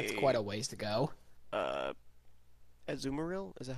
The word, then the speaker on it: Azumarill: seafloor cabin with quite a ways to go Zoomer ill is that how you pronounce it yeah and a Gardevoir so you want one with huge power azumarill not really a physical attacker yeah I'm like